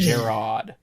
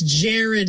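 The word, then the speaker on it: Jerrod: is Jared, but the first time anybody ever said it out loud was Defenders of the Realm, where they pronounced it Gerard. It's Jared.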